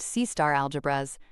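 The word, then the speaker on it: C*-algebras: The two main stars of this show are C** algebras, pronounced C-star algebras, and von Neumann algebras.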